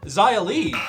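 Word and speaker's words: Xia Li: is a hive oh Zaya Lee She's an electrocute people said Hive because Lee rhymes with B and B's live in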